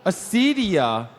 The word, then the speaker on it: Acedia: Nikki, pronounce that word for me. Acedia.